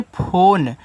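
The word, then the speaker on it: phone: क्योंकि यह आपका एक इंग्लिश वर्ड है क्योंकि इंग्लिश में जब कोई लास्ट में आपका इ आता है तो आप इ का उच्चारण नहीं करते हो और हिंदी वाले में हमेशा होता है।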